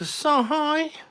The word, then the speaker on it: Asahi: It's definitely a Asahi. Asahi. It's not a he. If it was Asahi, it'd be H-E, surely. Asahi. It's Asahi. Asahi. Zuke, next time you order a pint of it, say it properly, yeah?